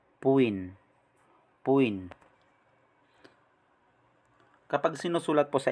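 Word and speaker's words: 부인: Pero pag nasa gitna po ng dalawang vowels, naging B po ang sound. B, as in boy.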